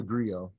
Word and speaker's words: griot: so the name is the griot g-r-i-o-t and the t is silent long-o uh but my family